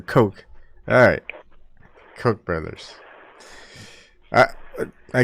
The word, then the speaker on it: Koch: ] all night and that cook just didn't seem correct it's a coke alright Koch brothers I